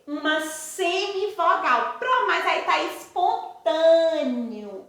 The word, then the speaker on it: espontâneo: Mas aí tá espontâneo. Espontâneo e é escrito com E. Mas na hora que eu pronunciei esse E, não apareceu o sonzinho do E. Apareceu o sonzinho do I.